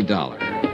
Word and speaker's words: Dollar: didn't it's dollar Johnny dollar dollar right it rhymes with color I always like to